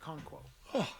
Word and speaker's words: Okonkwo: All right, Okonkwo.